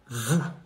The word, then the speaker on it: vous: The final S is silent. Nous. How do you say nous? For the plural form, you say vous.